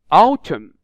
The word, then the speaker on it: autumn: You can notice it is very difficult to pronounce the M letter here, especially in this word. Autumn, autumn, not autumn.